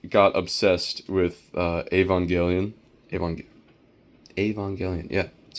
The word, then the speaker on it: Evangelion: Evang- Evangelion, yeah, that's how you pronounce it.